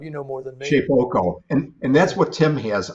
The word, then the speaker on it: Shapeoko: How do you pronounce that, Bob? You know more than me. Shapeoko, and that's what Tim has.